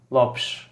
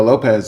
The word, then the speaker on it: Lopes: It's so it's with a S, not with a Z. So you spell it like a X. Okay. Lopes. Lopes. Finish it like that.